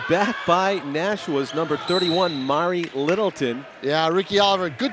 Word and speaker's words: Mari: Is it Mari or Mary Littleton? Mari. It is Mari.